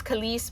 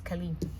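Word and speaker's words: Kelis: Um I know it's Khaliss, but really it's Khali. But anyway, phonetically it's Khali.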